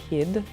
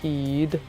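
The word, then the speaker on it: Kyd: Kid. Danish, I think. Oh, of course it is. Kid. So, Kid. Jesper Kid. Jesper Kid. Not kid. Kid. Kid. But do Danes pronounce the Y the same way as Swedes do? Kind of. Okay. Then No, they don't say kid, at least.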